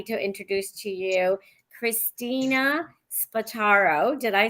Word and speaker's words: Spataro: introduce to You Christina spataro did I say that correct you said that perfectly it's pronounced exactly like it looks so people put way too much other syllables into it perfect beautiful wonderful uh